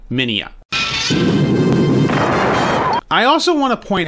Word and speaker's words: Minya: Looking at it phonetically, one would want to say Manila, but the dub clearly says Minya. However, if you listen carefully to the Japanese version of saying it, it is clearly Minya.